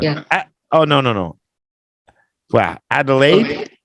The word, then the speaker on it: Adelaide: oh no no wow Adelaide I delayed I guess is how you say it some Scouts from Adelaide